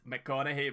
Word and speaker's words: McConaughey: McConaughey. Oh, it's because he's fucking spelt it wrong, right? Okay, sorry, E.B. Sorry, it's McConaughey, by the way. Like, Mick, like, as an MC, you dafty.